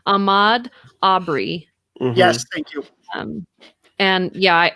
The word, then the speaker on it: Ahmaud Arbery: I think it's Ahmaud Arbery.